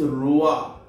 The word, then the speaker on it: trois: R-O-I-S, roa.